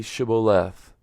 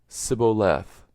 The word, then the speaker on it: shibboleth: no then they said to him now say shibboleth and he said sibo left for he could not manage to pronounce it right then they seized him and